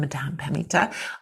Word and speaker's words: Madame Pamita: You said it right the first time, Madame Pamita. I just am, West Coast California, lazy talker.